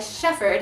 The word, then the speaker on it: shepherd: Okay, how do you pronounce this word right here? Shepherd. A shepherd is a person who takes care of sheep and cows and goats. We call it a shepherd. We cut off that second H.